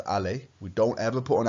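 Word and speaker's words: allée: It's still pronounced allé.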